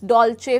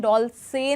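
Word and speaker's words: Dolce: इसमें देखिए इसका प्रोनाउंसिएशन डोल से नहीं कर रहे। हम इसे सी एच प्रोनाउंस कर रहे हैं। हम कह रहे हैं डॉलचे।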